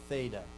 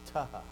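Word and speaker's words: θῆτα: So traditionally you're taught to pronounce theta as theta, an interdental. Put your tongue between your two teeth, theta, right? But that's not how they pronounced it then. In the time of Christ, it was taha.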